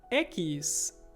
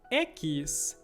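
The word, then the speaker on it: equis: like gu whiskey whiskey and the next one ekis ekis for example taxi a taxi taxi taxi so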